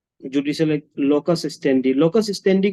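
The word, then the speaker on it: locus standi: Judicial लोकस स्टेंडी। लोकस स्टेंडी का मतलब पता है किसी को? लोकस स्टेंडी, स्टैंडाई प्रोनाउंस होता है। लोकस स्टैंडाई का मतलब यह है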